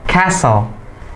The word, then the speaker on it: castle: This one is castle, not castle, ya. Tapi dibacanya castle. Jadi banyak yang sering tuh baca castle, castle bukan castle, tapi T-nya di silent, T-nya nggak dibaca, jadinya castle, castle.